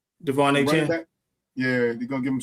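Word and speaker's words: De'Von Achane: Devon A. Chan.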